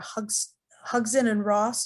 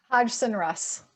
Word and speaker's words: Hodgson Russ: sarah miller with us who's an attorney for hux hugson and ross did i pronounce that correct hodgson russ hodgson and russ thank you um and we